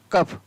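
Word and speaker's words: cough: तो कब पढ़ा जाता है, देखिए COUGS, तो इसको क्या पढ़ेंगे, कफ।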